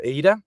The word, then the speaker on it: ADA: We don't control the burning or minting of of of ADA. It's is pronounced ADA because it comes from Ada Love Lace which basically was the world's first computer programmer.